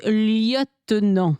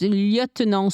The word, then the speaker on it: lieutenant: So a little point of French pronunciation here. It's lieutenant. Lieutenant. In French, it's lieutenant, sous-lieutenant. But in English, you spell it the same, but you say it wrong.